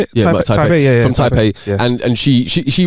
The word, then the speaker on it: Taipei: Yeah, Taipei.